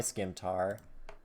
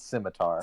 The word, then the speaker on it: scimitar: So that's a 19 with my scimitar. I'm gonna It's roll scimitar, for damage. Kevin, you don't pronounce the C. It's scimitar.